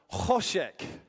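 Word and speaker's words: חושך: quick go at this this word is pronounced hosek so without spitting on the person in front of you have a go to this kosek kosek never have I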